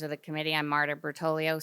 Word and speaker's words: Bertoglio: I'm Marta Bertoglio, spelled b e r t o g l i o and that g is silent.